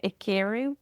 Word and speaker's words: Ikiru: Oh, I was saying Ikiru, but I don't know. Like emphasis on the second I.